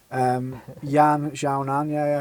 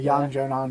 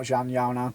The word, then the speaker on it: Yan Xiaonan: Yan Xiaonan, Yan Xiaonan, not Zhan Yaonan.